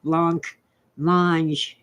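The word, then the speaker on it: blancmange: sketch about blamage uh being an American I pronounce it Blanc mange it's a white pudding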